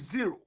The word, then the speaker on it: zero: when you are mentioning figure is not o it's zero or is different from